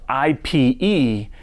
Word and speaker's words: Ipe: What is Ipe? Spelled I-P-E and pronounced Ipe, is an extremely dense tropical hardwood